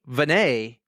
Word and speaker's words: Vannais: the running mullet, Vannais, on the On the Runs podcast. Nailed it. Nailed the name. I nailed it. S is silent.